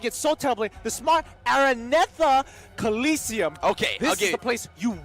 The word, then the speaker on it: Araneta: to say it properly alright cuz I've been pronouncing it so template the Smart Araneta Coliseum okay the place you want to be